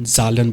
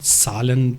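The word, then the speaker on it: Zahlen: है, जर्मन ज़बान में जो नंबर्स हैं उनको जालन बोला जाता है, जालन, ठीक है। तो जालन का पहला जो लफ्ज़ है, जालन बोलेंगे या उनकी सालन प्रोनाउंस करेंगे जर्मन लैंग्वेज में।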